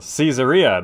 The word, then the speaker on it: Caesarea: neglect the city's defense all right well caesarea that's how it's pronounced governor fired population 7000 prosperity 70 favor 90 culture rating of 60 piece rating of 60.